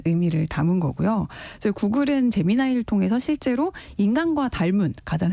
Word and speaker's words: 제미나이: 제미나이. 사실 이게 스펠링만 놓고 보면 우리가 잼민이라고 부를 수가 있는데 초등학생? 제미나이.